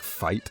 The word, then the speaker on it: fight: The GH in fight actually used to be pronounced the same way, but this sound has now disappeared and no one bothered updating the spelling.